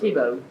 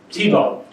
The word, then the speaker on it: Thibault: He had a huge, am I saying it wrong? I think it's Tebow. Tebow.